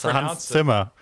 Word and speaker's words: Hans Zimmer: Should I pronounce it right? Oh, and you're German. It's Hans Zimmer.